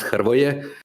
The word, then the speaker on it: Hrvoje: It's pronounced Hrvoje. So it's got like these three consonants in a row, which is unpronounceable if you're not Slavic, which kind of sucks.